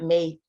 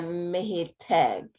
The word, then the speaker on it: محتاج: Usually they pronounce it like he. Many people. So أنا محتاج. It's not محتاج. It's محتاج. محتاج. Yeah, محتاج. Okay. It comes from very low here.